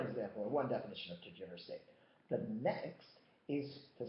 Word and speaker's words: tergiversate: Well, it's not pronounced tergiversate. It's pronounced tergiversate.